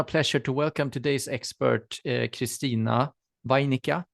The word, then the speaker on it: Christina Wainikka: Yeah, it's my pleasure to welcome today's expert, Christina Wainikka. Is that correctly pronounced? Yes.